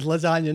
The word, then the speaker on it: lasagna: The word lasagna, not actual lasagna. No, I know, but the like, G is silent.